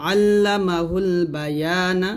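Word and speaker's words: علمه البيان: বা জবর বা, ইয়া আলিফ জবর ইয়া, বা ইয়া নুন জবর না, আল্লামাহুল বায়ানা। যে থামেন তাহলে বলতে হবে আল্লামাহুল বায়ান, আল্লামাহুল বায়ান।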